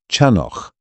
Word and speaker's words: Chanoch: Chanoch, that initial sound, guttural, ancient, demanding breath drawn from deep within the chest.